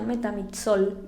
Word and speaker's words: metamizol: Por ejemplo, metamizol, ya se pronuncia metamizol, solo como que la Z la remarcan más, pero es exactamente lo mismo y funciona para exactamente lo mismo.